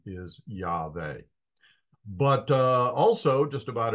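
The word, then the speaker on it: Yahweh: had about you know some Scholars say it's a wow sound and some people say it's a v sound um but a more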